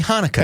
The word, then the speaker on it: Hanukkah: So, just in case you can't figure out what Chinooka is, he was attempting to say Happy Hanukkah.